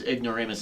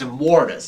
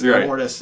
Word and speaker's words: Immortus: I keep saying his name's Ignoramus. It's Immortus. Immortus and stuff, and or